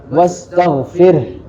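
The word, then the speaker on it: استغفر: Wastagfir. Nah, itu cara pengucapannya tidak boleh diqalqalahkan. Firh fir tidak boleh. Tapi ditetapkan huruf ee ditetapkan sifat rnya.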